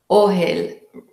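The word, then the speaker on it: אֹהֶל: Her Polish-influenced Hebrew pronunciation made the unfamiliar tint indistinguishable from the familiar food. That would be ohel, and the other one is ochel, but they both sounded the same.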